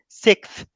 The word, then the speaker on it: sixth: sixth uh sixth floor you say six and then you add to it yeah try to say it it makes it much easier for you six six I am six six six first sick yeah okay and then you and then you go with the th sixth floor sixth floor